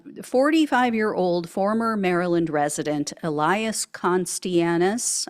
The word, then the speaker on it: Costianes: former Maryland resident Elias conis I believe it's how you pronounce his name conis yeah um he was